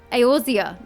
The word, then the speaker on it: Eorzea: I can't remember how to pronounce it now. Eorzea, that's it.